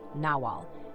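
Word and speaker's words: nagual: could be El Nagal a Nagal or naal both pronounced naal is a human being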